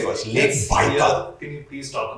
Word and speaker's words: Baikal: Pronounce that again. Baikal.